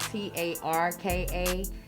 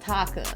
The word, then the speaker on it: Tarka: it's actually spelled different it's actually spelled t-a-r-k-a but it's pronounced taka so when i actually